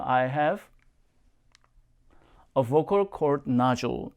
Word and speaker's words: nodule: I have a vocal cord nodule. 역시 발음 jewel 표현 잊지 마시고요.